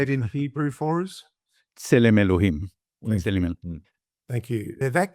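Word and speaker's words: צלם אלהים: Tselem Elohim.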